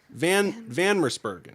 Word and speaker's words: Van Mersbergen: Van Mersbergen.